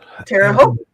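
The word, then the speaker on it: Terre Haute: Um, you were just down in Teroot last last week. Yes, we were. Terote rhymes with boat.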